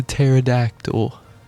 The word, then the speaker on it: pterodactyl: And now the pterodactyl cuz the P is silent.